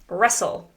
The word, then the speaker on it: wrestle: Notice how there is a silent W and silent T. Wrestle.